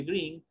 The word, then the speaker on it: green: En toda palabra donde ustedes observen una doble E, el momento de pronunciar es como ahí, como que existiera una I.